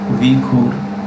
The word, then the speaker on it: Uyghur: See, wherever you read this word Uyghur, some people you will find with V, U-Y, it's okay. It's pronounced Uyghur, okay?